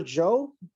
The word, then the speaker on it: Zhou: So forgive me if I mispronounce any Chinese names, if I don't get this correct, but so it's Emperor Zhou, that's how you say it? Yeah, very good.